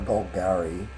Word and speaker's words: Golgari: Or Golgari, I suppose, is the correct way to say it.